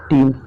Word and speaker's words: team: देखिए इसमें क्या करना है, E के बाद A आए तो वो आपका साइलेंट रहता है। जैसे एग्जांपल हमारा पहला है टीच। TEACH। देखिए टीच मतलब होता है पढ़ाना, लेकिन देखिए ई के बाद यहाँ ए आया है इसलिए ये क्या है, चुप है, आपका साइलेंट है। अगला दीजिए टीम, TEAM, टीम। टीम मतलब होता है दल या फिर टोली। तो देखिए ई के बाद यहाँ ए आया है इसलिए क्या है, चुप है, साइलेंट है।